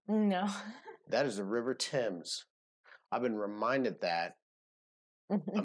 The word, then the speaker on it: Thames: You don't pronounce nothing like it's written in England. No. That is the River Thames. I've been reminded that a million times that is the river. Listen, that is the River Thames.